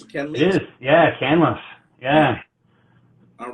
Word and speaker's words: Canlis: So pronouncing it right, is it Canlis or Canlis? It is, yeah, Canlis.